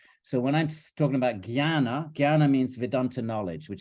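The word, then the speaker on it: ज्ञान: in the category of Gana with a JN it's the only word in one of the very very few words in Sanskrit that you don't pronounce as it's written it's written Chana and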